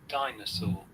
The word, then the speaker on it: dinosaur: Okay, and amazing part of this word, you have noticed there is R. In British English, we do not pronounce R. Okay, one. Mm, yes. So remember that if the R is at the end of the word and after that no other letter, the R must be silent or it is replaced by the vowel Okay.